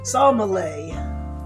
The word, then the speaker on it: sommelier: Okay, this has a pronunciation guide. It says sommelier. Or okay, it says there's another pronunciation. Sommelier. Okay, so I guess we're gonna go with that one.